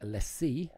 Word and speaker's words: LaCie: That is a top spec LaCie, because that's apparently how you say it.